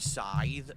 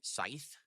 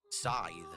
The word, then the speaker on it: scythe: ] most people can't pronounce the word Sye correctly why not how they pronounce it Scythe Sye dark Souls remastered re-